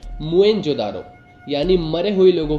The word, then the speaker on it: मोहनजोदड़ो: हम बोलचाल की भाषा में तो मोहनजोदारो बोल देते हैं, मगर इस शब्द का असली मतलब बहुत कम लोगों को पता है। इसका सही प्रोनाउंसिएशन होता है मोएनजोदारो, यानी मरे हुए लोगों